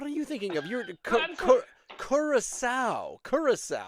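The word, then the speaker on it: Curaçao: Doesn't it have that weird upside down scent sign under the C? Because that turns a hard C into a soft C, like garçon.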